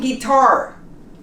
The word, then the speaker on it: guitar: say lastly okay you we don't pronounce the you in guitar in guilty in yes how about